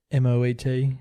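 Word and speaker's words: Moët: So how did you pronounce M-O-E-T? Moe? I think he pronounces it in the song Moet, which I think is correct.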